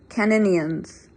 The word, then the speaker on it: Caninians: Caninians, the old man said. I'm assuming that would be the way to spell it. He gave the word a strange affliction on the second N. Caninyans.